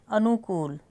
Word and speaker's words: अनुकूल: गलती हो जाएगी हमारी अनुकूल अनुकूल अनुकूल का पे बड़े उ की साउंड आ रही है अनुकूल का प लंबाई उ की मात्रा को बोल रहे हैं हम टाइम लगा के उ की मात्रा को बोल रहे हैं तो बड़ा उ आएगा शून्य अब शून्य जब